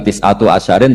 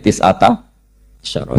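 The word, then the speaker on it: تِسْعَةَ عَشَرَ: Tetap bacanya bukan tis'atu asyarin tapi tis'ata asyara.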